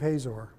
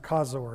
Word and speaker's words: Hazor: City of Hazor. Actually, it's pronounced Kazor in Hebrew.